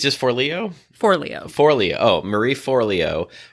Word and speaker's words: Forleo: It's just Forleo.